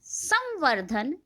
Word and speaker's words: संवर्धन: अब आप देखेंगे कि अन्यत्र में न आधा प्रोनाउंस हो रहा है, उच्चारित हो रहा है, और संवर्धन में अंग की साउंड आ रही है।